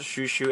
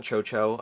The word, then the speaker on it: ChouChou: here with the shushu Deck Profile it is pronounced shushu and not Choo um the Katakana did say so but anyway